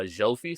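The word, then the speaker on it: Zsófi: was it was uh Zofi. So it's like Z Sophie basically. And they have a letter in their alphabet that's like ZS. It's pronounced like J.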